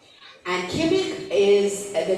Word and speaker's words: Qimmik: Then his most recent book, interesting, just published last year, 2023, easier name to pronounce, QIMMIK, Kimmick. And Kimmick is the name, it's a dog, it's the Huskies.